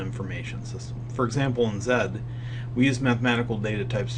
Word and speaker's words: Z: might make but um Zed and it is pronounced Zed because it did come from England is the formal method